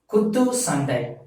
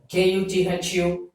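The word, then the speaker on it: குத்துச்சண்டை: So if your profession is boxing, so you have to pronounce this as Kuttu Sandai. Kuthusandai. Kuttu Sandai.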